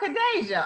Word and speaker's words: Khadeja: me pronounce your name is that a danger oh khadeja okay i completely did not say that correctly but i'm going to